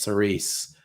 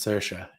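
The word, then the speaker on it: Saoirse: star whose name looks like it should be pronounced cerise and it's actually pronounced sercia yeah irish it's a fun language and the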